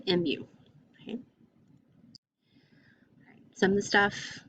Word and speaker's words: mu: is a greek letter it's the greek letter mu not like moomoo cow but mu okay some of the